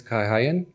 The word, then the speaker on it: Kay Hayen: you for having me my name is kayen pronounced German and and um well